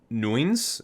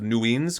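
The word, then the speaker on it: Nuign's: the pinnacle of nuins it's n-u-i-g-n apostrophe s i'm not even sure how you're supposed to pronounce that i'll i'll just say the pinnacle of new ends because i'm assuming the g is silent nuin's uh investigations into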